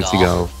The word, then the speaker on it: Seagal: You, Sensei, that's your ultimate goal, to become the next Steven Seagal. Okay. Although it is spelled like seagull, which is weird.